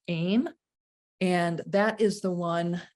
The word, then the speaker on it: ehm: the vowel sound aim it's spelled ehm and it's pronounced aim and that is the